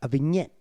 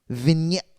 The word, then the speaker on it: vignette: of one Kenny Omega Vette vignette it's a vignette a VI it's spelled v GN eou T right it's time who